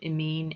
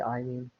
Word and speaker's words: amine: yes yeah i mean there's different ways to pronounce it some people say amin but amin and amin sound too similar so i just say i mean so in this case